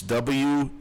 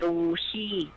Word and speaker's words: Wuxi: It's WUXI. How would you pronounce that? WSI? XI. Yeah, like a W means Wu, like Wuhan. Wu, S-I is Xi, is like Wuxi.